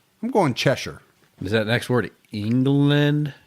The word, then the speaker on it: Cheshire: I think most of the shiers, what you want to say in America is shy, right? Over there is more like sure. Like sure, like like worsture like even though it's spelled like you would say it sh like a good wester.